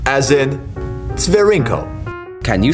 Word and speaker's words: Tsvirinko: T as in Tsvirinko. Can you say it with us? Tsvirinko.